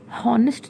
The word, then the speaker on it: honest: Honest में H is silent. honest नहीं हम कहते, we say honest.